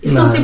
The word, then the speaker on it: Stussy: Stussy ba ang tao, ang bigkas?